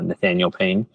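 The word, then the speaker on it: Nathanael Paine: Nathaniel Payne underscore DP um my first name is spelled differently though it's n-a-t-h-a-n-a-e-l p-a-i-n-e uh Nathaniel Payne um and there'll probably be a link to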